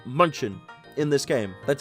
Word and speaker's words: Munchin: It's actually pronounced Munchin in this game.